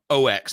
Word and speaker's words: aux: The KHE's got an attenuator or an aux port, basically. OX, not AUX.